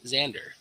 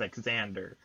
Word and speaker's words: Xander: good job Xavier it's zander becca's ander okay folk food truck tread you know the reason why I call you at Xander is because I've seen that name before pronounced eggs and ER I know I was